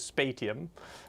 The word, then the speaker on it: Spatium: I pronounce it Spatium, because it's kind of got that association with space, storage space. Spatium. But yeah, other people indeed say it like literally phonetically how it's spelled, which is Spatium.